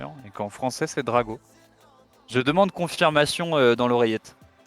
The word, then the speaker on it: Draco: mail à la casse écrit draco non parce que ça s'écrit comme ça et ça se dit drago ou alors c'est nous